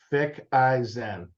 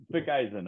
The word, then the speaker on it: Ficacine: So Richard, we'll do this phonetically. Fick-I-Zen. Fick-I-Zen. Okay. All right. That's Fick-I-Zen.